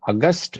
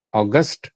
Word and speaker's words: august: இந்த அதே ஸ்பெல்லிங் அதுதான், இதை வேற மாதிரி ஸ்ட்ரெஸ் கொடுத்து ப்ரொனவுன்ஸ் பண்ணணும். அகஸ்ட், இங்க ஸ்ட்ரெஸ் கஸ்ட்ல, ஆகஸ்ட், அது ஆகஸ்ட், இது அகஸ்ட்.